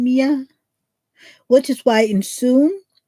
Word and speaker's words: Mia: Francesca, my next door neighbor's daughter, is Mia. See? And I'm pretty sure her name isn't pronounced Maya, right?